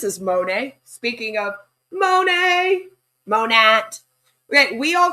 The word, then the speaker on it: Monat: And then they came out and they were like, "Actually, it stands for modern nature and it's supposed to be pronounced monat."